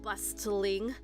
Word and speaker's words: bustling: The T is silent, so that's why I say bustling, not bustling.